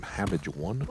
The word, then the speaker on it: Habbage: The H is silent technically because we don't want to step on the cabbage's toes, but it is Ham Cabbage or Habbage.